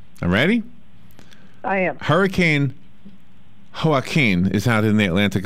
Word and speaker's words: Joaquin: Okay, I thought there was a baseball player and you pronounce it Joaquin. Not Joaquin, but Joaquin. Well, Joaquin has an H in it.